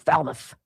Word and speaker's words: Falmouth: It's spelled Falmouth, mouth, but I think the reporter calls it Falmouth. Kind of say it quick.